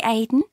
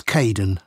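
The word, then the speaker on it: Kaeden: welcome to the team hi Aiden it's Caden I'm so sorry don't worry people often get my name wrong they you never know how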